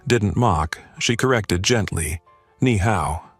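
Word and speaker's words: 你好: "Ni hao. Push the breath."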